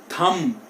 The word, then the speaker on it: thumb: M के बाद अगर B आ गया तो B जो है वो साइलेंट हो जाएगा.